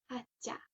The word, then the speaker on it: atia: Du coup, pour les accents toniques, avec un mot à 2 syllabes, l'accent est sur la première. Par exemple, pour dire salut, atia.